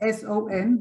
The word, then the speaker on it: son: But son, S-O-N, the one of mother and son, does not follow the rule because It's not sun, it is son, and they are homophones.